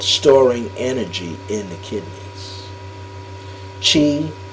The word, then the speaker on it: qi: Chi is also known as CHI, Chi. Chinese spell it QI, and Kong is spelled KO.